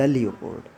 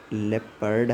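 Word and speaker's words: leopard: नो इट इज़ द लियोपोर्ड। तुम समझ जाना कि ये कुछ और नहीं है, ये लेपर्ड है। वैसे इसका करेक्ट प्रोनाउंसिएशन जो है वो लेपर्ड है, REPORD, लेपर्ड।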